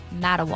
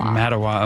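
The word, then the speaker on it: Mattawa: Elliot on a ship in Texas says, "Uh, the mat rhymes with hat and then it's like Omaha." So, Matawa. Matawa.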